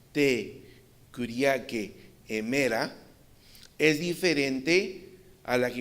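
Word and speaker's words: τῇ κυριακῇ ἡμέρᾳ: Dice Marcartur, la frase griega traducida aquí el día del Señor y él la pone aquí como se pronuncia te curique emera, es diferente a la que encontramos, por ejemplo,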